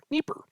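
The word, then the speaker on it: Dnieper: a capital uh I see the Napier River pronunciation we should start there Nipper neeper the neeper river in Europe okay now I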